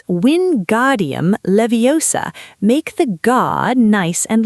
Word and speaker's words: Wingardium Leviosa: because in the film, Hermione famously corrects Ron's pronunciation. She says, and I'll try to do my best Emma Watson impression here, it's Wingardium Leviosa.